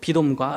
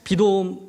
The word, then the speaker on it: 비돔: 그러니까 비돔. 비돔은 원래 발음은 피르 아툼이에요.